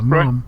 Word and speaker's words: Maugham: I think is that how you pronounce his name? Yeah, Mom.